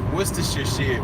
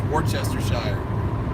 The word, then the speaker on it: Worcestershire: some Worcestershire sauce and I go what does Worcestershire Worcestershire he goes here and he handed me the boggled this is for Chester Shire he's like no it's Worcestershire I'm like no